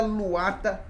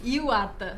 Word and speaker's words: Iwata: temas, e da Luata. Eu pronunciei corretamente? Iwata. Iwata.